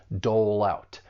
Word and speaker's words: dole out: And we can link the final consonant sound in dole with the beginning vowel sound in out. And this is when linking commonly occurs. Linking a final consonant sound with a beginning vowel sound. And it just helps us make a smooth transition from one word to the next. Dole out. It's like we're we're taking that consonant sound and just moving it over to the next syllable.